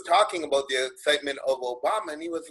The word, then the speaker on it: Obama: Okay, well, I remember, I'll just use an example of what happened during 2007 when all the excitement was in Obama, it rhymes with Osama, right?